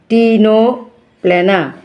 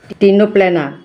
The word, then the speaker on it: Ctenoplana: ctenoplana. See উচ্চারণ এখানে হবে না, সি সাইলেন্ট থাকবে, ctenoplana.